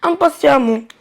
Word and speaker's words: impatiemment: Et attention, le E se prononce A dans ce cas. Impatient, on supprime en ENT et on ajoute amont, ça nous donne impatiemment.